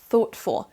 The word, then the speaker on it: thoughtful: Vous mettez votre langue au niveau de vos dents supérieures et à partir de là, vous soufflez un petit peu d'air pour faire la bonne prononciation de ce son TH.